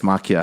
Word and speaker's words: Maquia: No, it's Maquia.